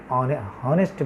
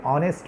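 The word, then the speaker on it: honest: অর্থাৎ এইচের উচ্চারণ করি, আমরা বলি নাই যে শব্দটি হনেস্ট বলি নাই, আমরা বলেছি অনেস্ট ম্যান, অ্যান অনেস্ট ম্যান, আমরা বলি নাই হনেস্ট ম্যান।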